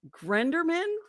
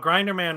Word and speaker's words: Grinderman: Grenderman? No, Grinderman was later. Grinderman. Okay. Why So the fuck here's did you pronounce it wrong?